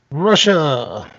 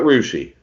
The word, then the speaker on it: Russia: Russia. We call it Rushi.